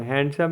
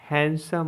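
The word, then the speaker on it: handsome: ई हैंडसम मतलब मनोहर हम लोग इसको बोलते हैं हैंडसम हैंडसम नहीं होता है हैंडसम होता है डब्लू ई डी एन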